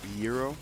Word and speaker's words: gyro: But yeah, how do you say it? Euro. Yeah. The G is like a like you know how some Spanish words the G is like a weird silent.